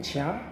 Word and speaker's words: ज्ञ: और ज्ञा जो होता है वो जा और इया से बनता है। इसीलिए विद्वान इसका उच्चारण, ज्ञा का उच्चारण ज्या करते हैं, क्योंकि जा और इया से बनता है।